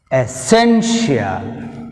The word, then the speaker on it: essential: this sophie second syllable shelf syllable official essential essential essential see here sen second syllable first